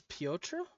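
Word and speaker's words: Piotr: I believe the chief of Simon's guards was Potra.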